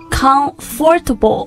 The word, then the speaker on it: comfortable: 所以 it's not comfortable or comfortable, but... Or not even comfortable. Yeah, comfortable. Comfortable. You can skip the sound after the F and just go straight into the tubble sound.